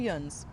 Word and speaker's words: Yinz: And that's how you can say Yinz, you can say Yunz, whichever way you like it.